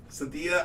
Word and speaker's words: Synthesia: So what this company is doing that makes this software, and it's Synthesia? Cynthia, I think is how you say it.